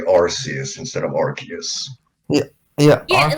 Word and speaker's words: Arceus: yeah that's fair but to me like it's it's name is like because of the way that it's spelled to me it's always been pronounced rcs yes yeah that's fair and it's like arceus i i i get what it's coming from but it's like i'm sorry i just can't pronounce it to me it's just rc us there's always that group